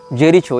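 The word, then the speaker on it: Jericho: या फलस्तीन हो इसने जेरिको या जेरीचो जो भी इसका उच्चारण भाषा में किया जाता है जे आर आई सी एच ओ जेरीचो या जेरिको जहां तक जेरिको होना चाहिए उच्चारण यह फलस्तीन का प्रांत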